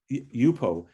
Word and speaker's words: Yupo: try it out it's it's called yuppu or yokozu yupo and it's spelt y-u-p-o ah thank you yeah